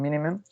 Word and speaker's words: minimum: The same happened here in minimum. It got 3 syllables, and the prominent is in the first one.